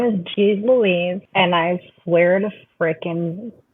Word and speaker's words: Jeez Loueez: find you cool okay so my name is G Louise and I swear to freaking God I'm going to spell it for you people and if you like